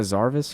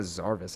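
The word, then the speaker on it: Zervas: It's Arizona Zarvis. I think that's how you say it.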